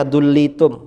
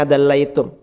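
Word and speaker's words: دليتم: Seandainya kalian menurunkan, ini si Wahabi tadi bacanya dullitum, mestinya dallaitum.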